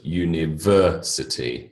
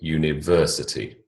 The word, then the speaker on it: university: is in each one third syllable in the first word university university third syllable again in the